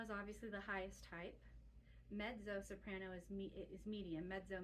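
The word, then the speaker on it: mezzo: obviously the highest type medzo soprano is is medium medzo means medium and it looks like Mezo because it's m e ZZ o but the word is pronounced medzo medzo so medo soprano and then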